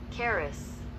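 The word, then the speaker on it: χάρις: g 54 84 right see how we pronounce this here charis charis all right that's how you said in greece in greek grace that which afford joy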